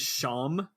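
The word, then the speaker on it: Seam: spelled you know and sorry his name is shawn which is really funny um but it's called s-e-a-m so you know sometimes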